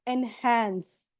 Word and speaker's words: enhance: Now quickly make सेंटेंस इनहेंस, और pronounce कैसे करोगे? एनहांस, एनहांस, ओके, इनहांस नहीं, एनहांस।